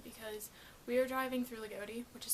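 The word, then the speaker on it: Loogootee: the way home because we were driving through Lagodi, which is spelled L-O-O-G-O-O-T-E. Don't ask me why it's pronounced Lagodi.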